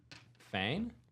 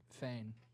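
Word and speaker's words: Feign: His name, but Fain. Fain. Yeah, Fain. F E I N. F E I N. Fain. F E I G N. Fain. The G silent. The G is silent.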